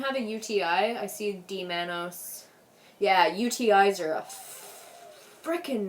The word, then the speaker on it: D-mannose: I see D-Manos. Yeah, UTIs are a frickin' nightmare. I definitely recommend the D-Manos. It's spelled like D-MANNOSE.